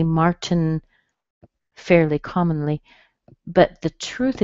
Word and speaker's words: Martin: end up with is your tongue on your teeth to make the T, Mart, and then don't move it, make the N, Martin, Martin, Martin.